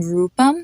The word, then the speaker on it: Rupam: cool you hear that another example is the name rupam it has a oo sound to it so the next category